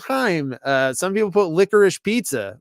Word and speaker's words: Haim: That's the Haim. It's not Haim. It's not Haim.